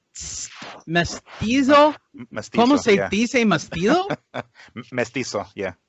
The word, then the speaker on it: mestizo: Mestizo, yeah. Mestizo. So the Z is an S, all right? Mestizo? Yeah, it's a sharp. It's like a strong S, pretty much.